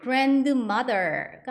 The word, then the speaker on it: grandmother: 근데 이때 grandmother가 아니라 grand 할 때 D 발음이 안 난다고 생각하시면 돼요. grandmother, grandmother 할머니란 뜻이고요.